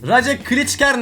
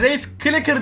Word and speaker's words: Race Clicker: Raja Klitschker ne mavi, Race Clicker diye okunuyor.